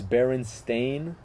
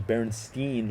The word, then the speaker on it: Berenstain: So the way it's spelled currently, it's Berenstain. So it's like Stain, which doesn't even make sense. It doesn't sound like a regular name. I thought it was Berenstein, like Frankenstein, the type of spelling.